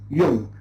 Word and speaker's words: Jung: So the name is not an English name. So you can't say Jung or Jung. Jung. Okay? So it is a German name.